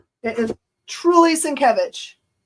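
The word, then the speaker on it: Sienkiewicz: Yeah, it is truly Sincvich. He even changed the name of his com his uh signature and like his company thing to say Sinkevich so people know how to say it because it looks like Cincoich is not.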